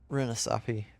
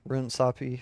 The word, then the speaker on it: Runasapi: Runasapi. Runasapi. Runasapi. The A is like barely pronounced, I think, when Athena says it.